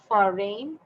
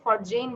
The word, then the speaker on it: foreign: ফরেন, ফরেন, ফরেন, অনেকে ফরজেইন বলে, নো, ফরেন, ফরেন, ফরেন।